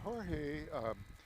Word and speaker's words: Jorge: Yeah, Jorge got on by way of a walk. Jorge? Yeah. Are you sure about that? Yes. Okay. You don't pronounce the J in Spanish.